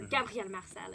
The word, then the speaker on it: Gabriel Marcel: So if you like more existential philosophy, you should try Gabriel Marcel, or Gabriel Marcel in French. Better way to pronounce it.